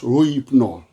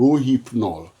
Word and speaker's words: Rohypnol: As I have to take time to go and study it, because Rohypnol, Rohypnol, Rohypnol, that's the pronunciation, Rohypnol.